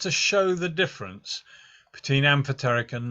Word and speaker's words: amphoteric: funny word some people think it should be pronounced amphoteric but it's not it's amphoteric amphoteric chemicals work in a particular way so